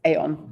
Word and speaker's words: Aon: So I initially pronounced this Aon but you have to think of a Scottish person saying un in French but with a Scottish accent.